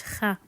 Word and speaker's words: خ: This one is a bit tricky because it has no equivalent in most languages, but it's so similar to the Scottish kha.